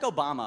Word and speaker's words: Obama: And then Obama that rhymes with Osama.